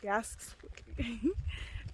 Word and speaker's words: Jasper: Yasks. It's like Jasper, but like with a Y.